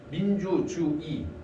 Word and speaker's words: 민주주의: 그래서 다만사에서 단어의 첫 음절 위에, 그러니까 두 번째 음절부터 시작되는 의는 이로, 민주주의, 민주주의, 민주주의, 민주주. 요거 발음할 때 의라고 이중모음 발음해도 되지만 이로, 조사의, 민주주의에, 요건 조사의거든?